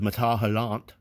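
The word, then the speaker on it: Métal Hurlant: in the spirit of matahalant. I I just like saying it. So I'm trying to say it the f the way the French say it.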